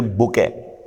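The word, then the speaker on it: bouquet: फिर बुके, इसे पढ़ते हैं बुके, फूलों का गुलदस्ता। स्पेलिंग क्या है? BOU, ये क्यू है। फिर UET, बुके, टी साइलेंट होता है इसका।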